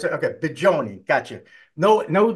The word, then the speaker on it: Bigioni: It is a hard G. Oh, so it's okay. Bigioni.